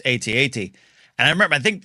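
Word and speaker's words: AT-AT: kid as you mentioned like they would say at at in the commercial however when I started working for lucasfilm as a contributor um and hosting they told me you need to pronounce it ATS atat and I was like what they corrected my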